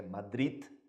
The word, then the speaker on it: Madrid: Ninguém ligou muito para ele, salvo justamente aqui, por isso que coloquei Madrid, em espanhol a gente coloca o D no final, né? Sim? Então a pronúncia é Madrid, né?